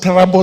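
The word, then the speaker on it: Tarbaj: Troub sub county at it's pronounced terabbo subc county poor boy boys high school at 8:00 a.m.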